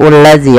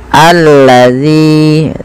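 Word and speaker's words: الذي: ini bagaimana cara membacanya ini bukan dibaca adzi ya teman-teman tapi kita bacanya ketika ada Hamzah atau Alif di awal bacaan dan tanda seperti ini kita baca dengan a ya alladzi panjangkan Z dua harakat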